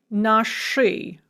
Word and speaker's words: наши: But we are going to pronounce that as hard as ui, because sh is always hard. So we're going to say nashi vashi, but we write nash-i, vash-i.